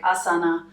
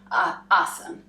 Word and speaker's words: asana: you might wonder why sometimes I drop the a at the end and sometimes not well that's how the Indians do it it's written suasana but